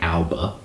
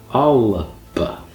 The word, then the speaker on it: Alba: It looks like Alba, like Jessica Alba. It's got epenthesis, so it's Alba.